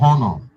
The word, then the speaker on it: honor: We will be honored to supporting you. The word is not honor. Oh, the H is silent.